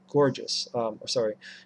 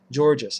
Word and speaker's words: Guergis: And there's the issue with Helena Guergis, Georgis, I think it's pronounced.